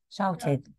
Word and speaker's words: shouted: in pronounced it it doesn't I yeah example shouted shouted I bet it's not Ed not shouted shouted shouted okay listen again shouted no no no not